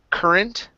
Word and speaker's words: current: is typically not an Ure sound we don't pronounce an O it's only e sir okay um next up is uh the word current okay same thing here instead of current okay